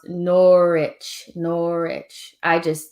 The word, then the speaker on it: Norwich: Mohammed said it's pronounced Norwich. That W is there.